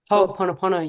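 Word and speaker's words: Hoʻoponopono: of going to, sorry, I'm not going to pronounce it properly, no? Ho'oponopono, yes, Yes, and other different modalities to seek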